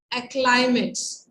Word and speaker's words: acclimates: It says acclimates. Acclimates, इसका pronunciation भी करिए जो मेरे साथ जूम पे जुड़े हैं।